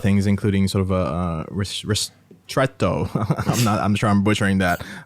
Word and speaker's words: ristretto: Yeah, so technically you pronounce it, if you want to go Italian, you go ristretto, but otherwise we say ristretto, and it's much easier.